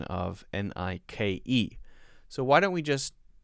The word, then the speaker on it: Nike: top left here n-i-k-e a lot of people say oh yeah i know about the silent e i know all about it m-i-k-e the name mike l-i-k-e like so this must be nike right wrong it is nike nike nike nike it's how it's pronounced n-i-k-e is not pronounced